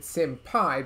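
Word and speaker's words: SymPy: is a library called simpy i guess you would more properly pronounce it simpai because there's a thing in python about putting the word pi at the end of something so whatever it is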